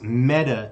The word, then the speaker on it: Meta: uh to be precise metta is pronounced like the feminine form of a hebrew word which is dead it means dead so